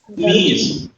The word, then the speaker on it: میز: میز، मीज। देखिए बहुत से वर्ड्स ऐसे हैं जो फारसी में भी वही है उर्दू में, लेकिन प्रोनाउंसिएशन का फर्क है। हम कहते हैं मेज, वो कहते हैं मीज।